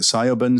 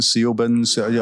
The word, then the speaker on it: Siobhan: many of the books she gets called Shiv, to give you an idea of that might be the pronunciation.